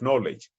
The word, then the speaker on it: knowledge: case we call it what about in the case of knowledge k-n-o-w the sound of k which is k is going to be ignored and we are going